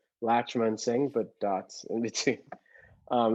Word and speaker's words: Latchmansingh: my instagram handle is my last name but it's broken up phonetically because some people have trouble saying it it's latch l-a-t-c-h dot man m-a-n dot sing s-i-n-g so it's latch man sing but dots in between